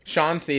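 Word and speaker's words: Shauncey: Sean C. is spelled like that: S H A U N C E Y. But it's like at Sean C.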